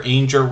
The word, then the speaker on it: Ainger: That is Ainger, rhymes with danger.